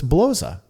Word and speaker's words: Bloza: About me, my last name is pronounced like Gosa, so it's Bloza.